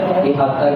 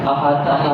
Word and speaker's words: احاطہ: غلطی نہیں ہونی چاہیے۔ احاطہ باب فعال کا مصدر ہے، احاطہ کہنا چاہیے، احاطہ نہیں کہنا چاہیے۔ علماء سو برابر علماء سو برے علماء، ٹھیک ہے؟